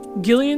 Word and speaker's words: Gillian: to do with Snatchers gillian 'he's name is pronounced with a hard G yet the dude's name